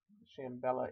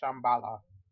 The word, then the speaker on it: Shambala: Shambela earrings. Shambala. Gotta pronounce them right.